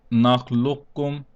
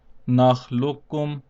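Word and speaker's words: نخلقكم: Now in this case, we will also skip the first kaf and pronounce only the second kaf.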